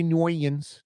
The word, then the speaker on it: New Orleans: They say noans. Noans. Noans. You never heard that Mario Brothers? Can't say I have. Well, you need to hang out with some 80 plus year old uptown white women clearly. And it's also just a low percentage. I think most 80 plus year old white women in uptown say New Orleans.